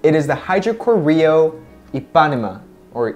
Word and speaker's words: Ipanema: for the last it is the hydro Koryo a Panama or Ipanema a Panama the Panama something like that it just helped me out pronounce it correctly three two one Hydra core Rio Ipanema according to the website if you are in